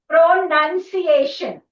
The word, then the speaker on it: pronunciation: How do you say this? Pronunciation.